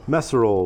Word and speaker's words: Messerole: uh first of all is it mesero or meso meso would be the correct pronunciation ah so we're off